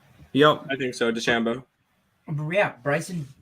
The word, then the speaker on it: DeChambeau: DeChambeau. Yeah, Bryson DeChambeau.